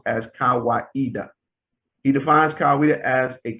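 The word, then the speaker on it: Kawaida: swahili word meaning tradition and reason it is pronounced as kawaiida he defines kaweda as a communitarian african philosophy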